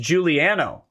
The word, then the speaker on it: Giuliano: it giuliano this my last name is pronounced juliano oh damn it uh